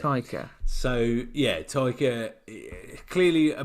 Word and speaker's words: Taika: So it's Taka. Taka. It's not Taika. Taika Waititi, isn't it? Taika Waititi. Yeah. Taika. That's it. Taika.